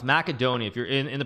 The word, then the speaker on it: Macedonia: you're actually wrong it's macedonia if you're in in the proper language of the country it's macedonia not macedonia i always thought it